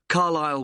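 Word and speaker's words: Carlisle: You don't pronounce the S. Carlile way.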